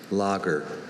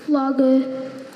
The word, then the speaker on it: lager: Lager. Afrikaans is the biggest clue here. Lager. I'll give him that first syllable.